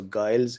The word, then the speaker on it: Giles: Okay, Neil says Giles rhyming with Miles. Okay, so Giles, yo.